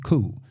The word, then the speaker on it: coup: is called colonization the second word is coup is spelled c-o-u-p cool and the next word destabilization let's talk about